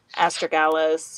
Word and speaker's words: astragalus: Astragalus or astragalus. Mm-hmm. You're saying it So, right. yeah. Okay. Which one is right? They're both okay. They're both fine.